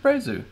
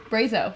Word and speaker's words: Brazo: Hey, it's Brazu. Yes, we will talk about you in a moment. Brazo, right. Brazo, sorry. He phonetically spelled it out so that you wouldn't do that.